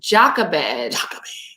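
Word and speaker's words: Jochebed: the actual pronunciation so the way that you pronounce this name is Jacques Abed and she was the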